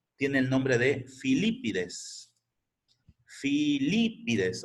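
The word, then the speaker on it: Filípides: Filipides, o sea, con acento en la segunda I.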